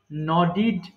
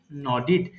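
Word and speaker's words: nodded: ইউ নডিং নড মানেই হচ্ছে মাথা নাড়ানো নড নডিড নডিড এবং শেষে ডি থাকায় আমাদের উচ্চারণটা হয়ে যাবে ডিড এর মত স ন ডিড নডি এরপর কি আছে নোট মানে টুকে নেওয়া।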